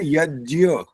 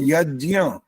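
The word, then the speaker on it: यज्ञ: बोल रहा हूं यज्य ये नासिका से आवाज जब आएगी ना सुनो बोलना नहीं अभी जब तक नासिका से आवाज नहीं आएगी तो वो जि का उच्चारण नहीं कहलाता वो ज और य बन जाता है ज आधा और य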